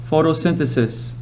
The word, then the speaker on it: photosynthesis: pronunciation guides following it so fo toe sin fi sis photosynthesis photosynthesis usually takes place in